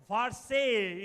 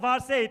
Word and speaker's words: Versailles: VC is how it is pronounced. The Palace of Vce.